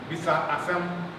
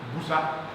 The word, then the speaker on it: bisa: Now you hear some speakers, especially in Asante, they'll pronounce this busa. Have you ever heard that busa? Right? It's just because in the language it means that these are allophones, right?